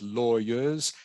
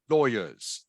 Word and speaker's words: lawyers: yeah like this one lawyers lawyers lawyers lawyers correct lawyers lawyers okay I know it is spelled law but in this word it's actually pronounced Loy slightly different from how